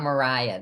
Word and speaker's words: Maria: So let's talk about, I thought it was Maria, but when I read the book, let's talk about Mariah then, because she's based on somebody was a real person. Yes. And so her name is spelled Maria.